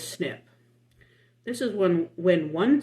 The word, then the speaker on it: SNP: single nucleotide polymorphism and we pronounce it as snip this is one when